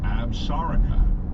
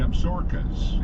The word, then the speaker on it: Absaroka: The proper way is most likely Absaroka, but many locals call the range the Absarokas, and newcomers often refer to the mountains as the Absaroka.